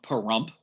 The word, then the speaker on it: Pahrump: It's at a location called Ash Meadows National Wildlife Refuge in the state of Nevada, outside the town of Pahrump, which rhymes with dump, crystal meth capital of the state.